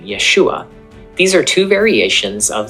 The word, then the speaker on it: Yeshua: Now, there is some debate over the last syllable of Yeshua's name. Some scholars think that the ah sound at the end was pronounced much more subtly in the 1st century, resulting in a name that was pronounced more like Yeshua.